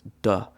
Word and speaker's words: 的: So this character is normally, I would say, more than 90% of the time pronounced "de" in the neutral tone.